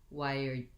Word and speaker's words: why're: did here with we're we don't want to say it just with the r sound in connect to speech americans will say why are why are you doing that why are you going they reduce the r just into an er so we have again